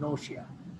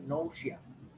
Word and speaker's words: nausea: এই ওয়ার্ডটার উচ্চারণ হচ্ছে নৌশিয়া। আবার বলছি, ওয়ার্ডটার উচ্চারণ হচ্ছে নৌশিয়া।